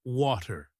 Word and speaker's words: water: For example, take the word water. In American English, it sounds like waiter, but in British English, it sounds more like Watu.